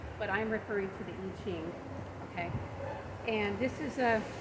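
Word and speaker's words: I Ching: n g and sometimes will call it the iing I don't speak Mandarin Chinese but I'm pretty sure that's not a correct pronunciation so which is fine if you want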